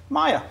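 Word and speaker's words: Maia: Maya from Grand Rapids. It's spelled M-A-I-A. Yeah. So I'm going with Maya.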